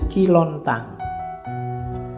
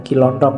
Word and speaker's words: Ki Lontang: Ada muridnya namanya Ki Lontang. Kilontang ini waktu diinterogasi antara lain yang diucapkan itu, bukan Kilontong ya.